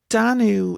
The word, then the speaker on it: Danú: Danu, in one manuscript, the Morrigan is given as Danu, as like an alternate name, but it's unique to that single source.